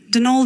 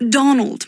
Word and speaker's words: Donal: that was the caretaker denal Delaney not Donald mind you there's no D at the end so it's pronounced denal